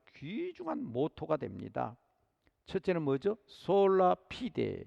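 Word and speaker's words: Sola fide: 솔라 피데, 라틴어입니다. 발음은 졸라 피데, 그렇게 읽기도 합니다.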